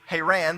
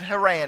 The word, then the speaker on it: Haran: It's pronounced actually Haran, but we say it Haran here.